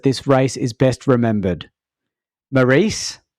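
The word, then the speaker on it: Mairesse: race is best remembered Maurice is that how you pronounce it Maurice I would say mares but mar mar yes yeah it sounds like an Italian name maresa in the Ferrari and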